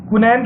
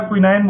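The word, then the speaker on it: quinine: क्विनैन के पेड़ से हमें जो भी दवा मिलती है, क्विनैन बोलते हैं या क्विनाइन बोलते हैं, अलग अलग इसको हम प्रोनाउंस करते हैं।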